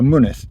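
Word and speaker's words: Mynydd: be be gentle so money is m y n y Double D so the first Y and the second y are pronounced differently goodness yeah the Double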